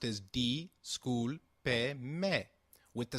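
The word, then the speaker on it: disculpe: at this pronunciation again the school payment is pronounced as d school pay may with the sound of pay like in pet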